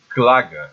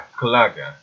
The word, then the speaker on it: Klage: os alemães, e o que os alemães chamavam de Klaga, né? Se escreve Klage com K, né? A Klaga, né?